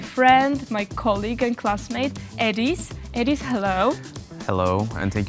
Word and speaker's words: Ediz: That my name is Ediz, you just spell it like it's 4 letters, E-D-I-Z, Ediz, and I'm from Turkey.